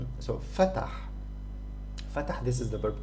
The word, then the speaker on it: فتح: This is pronounced like this. فتح.